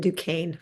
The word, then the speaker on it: Duquesne: I am from Dukane, which is the only lie that Jeff told you. You pronounce it Dukane formally.